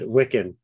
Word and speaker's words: Wikan: You got it, Wikan.